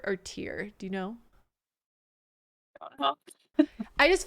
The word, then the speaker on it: Tyre: all learn together what is it tire tire it's tire like the wheels on a car or the tires on